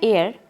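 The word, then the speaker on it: heir: तो इसका प्रोनाउंसिएशन होता है एयर, तो इसीलिए इसमें एन आएगा।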